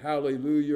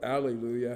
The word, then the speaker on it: hallelujah: the Hebrew translation or the Hebrew word hallelujah or Allelujah however you want to pronounce pronounce it which in the